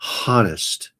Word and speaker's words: honest: they're being truthful and honest. If people are truthful and honest, see, I'm so honest, I even pronounce the silent H in honest.